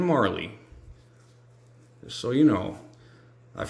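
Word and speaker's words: Majerle: It's not Dan Majorel. It's Dan Marley.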